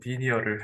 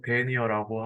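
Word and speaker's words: denier: 여기는 뭐 영어 발음 비슷하게 한다 디니어를 했는데 우리나라 발음으로 데니어라고 하고 9,000m의 섬유가 몇 g인지 나타내는 수치를 말합니다.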